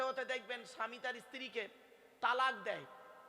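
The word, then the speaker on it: طلاق: মুসলিম সকলে শুনে যান শব্দটা কিন্তু তালাক নয় শব্দটা কি শব্দটা হলো তলাক কি বললাম জোরে বলুন তলাক ওর আরবি উচ্চারণ কি তম আলিফ কফ বাংলা উচ্চারণ কি তয় বায় লকার ক তলাক মানে পৃথক দেওয়া ছেড়ে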